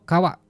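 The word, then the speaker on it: 川: Contohnya cuma satu aja, Nihon no kawa, sungai di Jepang. Jadi gampang ya. Yang penting teman-teman hafal, kanji ini bacanya kawa, artinya sungai. Udah, itu aja.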